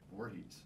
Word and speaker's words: Voorhees: But how do you pronounce his last name? Voorhees.